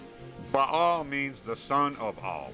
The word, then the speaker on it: Baal: It's pronounced Baal.